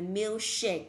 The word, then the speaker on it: milkshake: Đọc từ này là milkshake, nhớ là đọc âm sure nặng thật mạnh lên.